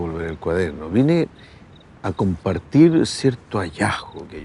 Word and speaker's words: cuaderno: Viene y hace lo mismo con la D de cuaderno, que probablemente ya sabes, ya has escuchado hablar de que la D entre vocales, como en la palabra todo, no se pronuncia de forma muy fuerte. Es más como todo todo, pero cuando se habla rápido se puede pronunciar más o se puede perder la D.